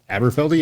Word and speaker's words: Aberfeldy: This 12-year-old from Aberfeldy, is that how you pronounce it? Aberfeldy, yeah.